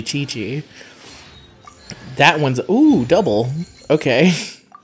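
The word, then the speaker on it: Qiqi: screws me up that quickly is actually chi-chi that one's ooh double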